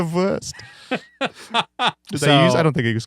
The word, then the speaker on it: Wurst: the worst but it's spelled like BR worst exactly yeah it's German flavor I like that you're the ver you are the ver I don't think it